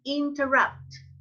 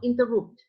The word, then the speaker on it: interrupt: Catalina, there is only one mistake in pronunciation, Cata. Is don't interrupt, not interrupt.